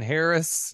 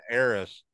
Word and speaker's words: heiress: Next, we got Juliet Landau as Loretta King, who was the thought mistaken Harris. Yeah, the mistaken heiress.